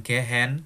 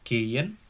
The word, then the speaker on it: gehen: Kaufen artinya belanja, gehen, bacanya gehen ya. Bukan gehen, bukan, tapi gehen itu artinya pergi tapi jalan kaki.